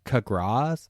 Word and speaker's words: Capgras: a similar subject, uh the Capgras Capgras, I think that's how you say it.